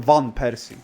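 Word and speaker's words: van Persie: Van is with a V, not a fur. And I don't know who that is. Of course you don't. You're not cultural. You're not a cultured person. So it is van Py.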